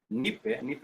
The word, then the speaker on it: nipe: Nipe is a phrase. It means give me. Nipe is a two-syllable phrase.